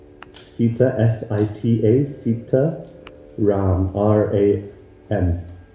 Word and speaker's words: Ram: Sita Ram. Sita, S-I-T-A, Sita Ram, R-A-M. It's not Ram, like Ram, R-A-A-M. Spelled like that.